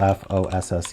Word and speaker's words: fosse: that mean a detrimote it's just pronounced Foss okay okay cool well